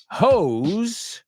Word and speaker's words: hose: Hose, manguera, rhymes with foes and froze.